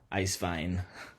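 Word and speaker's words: Eiswein: midterm wine presentation on ice wine um or pronounced in germany is ice vine so here's just a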